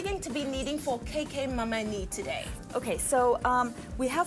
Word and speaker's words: Cakeh Mamani: Actually, it's called Cakeh Mamani.